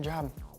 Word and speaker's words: Job: Teaches you how to get a job. It's pronounced Job.